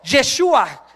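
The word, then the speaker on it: ישוע: en chino han no sé si así se pronuncia en alemán J en francés Jesús en alemán Jesús en hebreo yeshua en hindu yisu en italiano gesu en japonés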